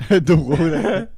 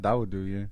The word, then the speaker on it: Dawodu: Dawoda. Dawodu? You talking about the Nick Lentz fight? That's how you say It's it? pronounced Dawodu, yeah.